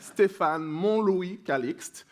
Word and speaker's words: Stéphane Montlouis-Calixte: So I'm Stéphane Montlouis-Calixte. So the first T that you see there, it's a trap. You don't need to pronounce it. So it will be Stéphane Montlouis-Calixte.